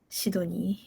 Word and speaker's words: Sydney: in Japanese that's how you pronounce it in Japanese shid shidoni shidoni shidoni shidoni shidoni